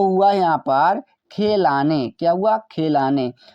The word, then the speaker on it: खेलने: KH से ख, यहाँ पर ई का मतलब ए की मात्रा, एल का मतलब लॉ, ए साइलेंट रहेगा, एन का मतलब न और ई का मतलब ए की मात्रा। तो इस प्रकार से हमने खेलने लिख दिया।